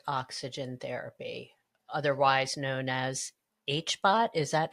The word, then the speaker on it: HBOT: how did you find out about hyperbaric oxygen therapy, otherwise known as HBOT? Is that how you say it? HBOT, HBOT, correct.